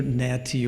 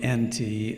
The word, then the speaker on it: Anti: from an Egyptian route nty y pronounce either naty or anti take your pick uh meaning that one